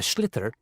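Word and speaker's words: sliotar: this ball called a schit that's s l i o t a r so it's not spelled the way it's pronounced you hit it into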